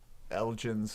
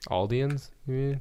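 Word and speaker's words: Eldians: the meeting where the elgins were talking amongst themselves aldians the elgins aldians there's no g in there that's how you they pronounce it but we're reading it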